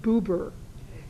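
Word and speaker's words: Buber: and uh secondly look up people's names and pronunciations uh Martin b u b r is Martin bber so and because uh he was a fairly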